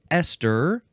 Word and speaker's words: ester: This is an abbreviation for ester, which is our next word. Huh? Ester. It sounds the same as Esther from the previous episode, but it's spelled with